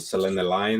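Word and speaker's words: selenelion: time and then i found out about the selena lion eclipses you spell that s-e-l-e-n-e lion l-i-o-n selena lion eclipses and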